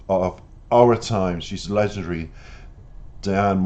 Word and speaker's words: Diane: She's legendary, Diane Warren, or Dion, depending on your pronunciation.